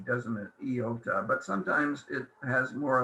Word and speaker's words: iota: But we don't pronounce it I, and we don't put a dot on top. It's I, the I sound. Sometimes it will sound more like E, depending on the word.